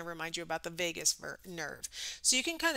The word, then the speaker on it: vagus: For example, there's a vagus nerve. It's not spelled the same way as Las Vegas.